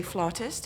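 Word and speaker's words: flautist: Ah, it depends where you're from. In in Britain they would say flirtist. In America they say flutist.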